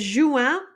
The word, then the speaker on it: juin: Next is Juin. Juin is June. Juin. And that one is pronounced like Jou. Let's see, Jou, and then N, Juin.